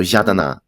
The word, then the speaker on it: Yadana: Yeah, Oh, so Ra is pronounced Ya yeah. in Burmese. So Oh, Yadana, but it means gems, and it's a common name for girls.